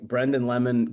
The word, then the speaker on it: Brendon Lemon: I feel like Brendan Lemon can only properly be pronounced in like an Irish accent.